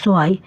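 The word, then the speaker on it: zwei: দেখুন, 0কে জার্মানে বলা হয় নুল, 1কে বলা হয় আইন্স, 2কে বলা হয় সোয়াই, 3কে বলা হয় দ্রাই, 4কে বলা হয় ফিয়া,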